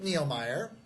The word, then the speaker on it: Nilmeier: So Rick Nilmeier, did I say it right? Yes, sir. Rick Nilmeier.